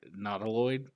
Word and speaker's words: Nautiloid: Some of my favorite cards are the artifacts, like the I never say this word right, Nautiloid ship.